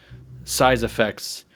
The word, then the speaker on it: CYESS AFXZS: haven't read it it's kind of like if you take a the word size and effects and say them in a